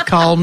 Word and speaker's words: calm: Let's write in chalk that we will always calm down and take a walk.